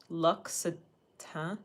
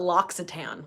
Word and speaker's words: L'Occitane: I'm just gonna call it L'Occitane, like all the fucking American people. L'Occitane. L'Occitane. Look so tan. The French pronunciation.